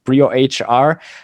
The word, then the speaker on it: BrioHR: Again, it's BrioHR, not Brio. But maybe you can elaborate on that one, because it's a good idea behind that. yeah, actually, so the pronunciation itself, we are fairly okay and used to both. So Brio, we are not very particular about it.